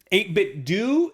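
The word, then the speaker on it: 8BitDo: it is waifu yeah so we're wrong yeah 8-bit do is how you pronounce it yeah according to them it looks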